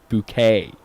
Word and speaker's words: Bucket: Her name was Hyacinth Bucket, but you'd say it's spelled book, but you say Hyacinth Bouquet.